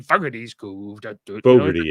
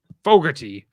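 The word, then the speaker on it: Fogarty: so yeah down in fog fty it's pronounced Fogerty uh it's a nice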